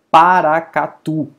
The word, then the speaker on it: Paracatu: Paracatu. Veja que a última sílaba é forte, mas ela termina em U, logo ela não recebe acento.